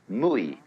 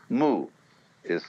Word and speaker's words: mui: In Japanese, Mui. I is Japanese for pronouncing the Chinese way. Mu is Chinese Wu.